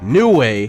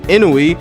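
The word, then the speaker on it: Nue: know you could ride New Way see I finally said it right instead of saying inoi are you happy now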